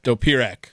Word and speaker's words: Dopirak: Did I say that right? Dopirak? Dopirak. You added a syllable. I even wrote it down the way that I thought you said it, and I still got it wrong. 3 syllables.